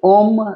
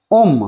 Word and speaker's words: ওম: ওম নট ওং আমি দেখছি ইউটিউ এ ভরে ভরে সব ভিডিও পাঠাচ্ছে ওং ওং পং পং এরম হয় নাারে ভাই চন্দ্রবিন্দু আর উসরের কোন উচ্চারণ হয় না তাই ওখানে ম বসবে লিম ওকে দিয়ে ওই ব্যক্তির